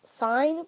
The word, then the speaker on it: sin: 1 fraction 2, bracket open 5, bracket close, bracket open 6, bracket close, times button, bracket open sine. Let's call it sine button. It's S-I-N, but it's pronounced sine.